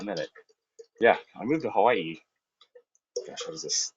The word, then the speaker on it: Hawaii: Because like, right, you're supposed to pronounce that Hawaii, right? Like with the break between the two I's, the Okina.